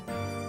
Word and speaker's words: heroine: It just sounds like heroin. Hold on. How is it actually? Hold on. How do you say this word? Pronounce heroin. Hold on. What does Julian Miguel on YouTube have to say about this? Heroin. It is heroin.